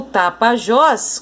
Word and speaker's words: Tapajós: O Tapajós, como a gente pode observar aqui, ó, é a última sílaba.